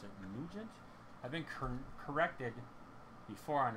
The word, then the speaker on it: Nugent: I think they pronounce it Nugent.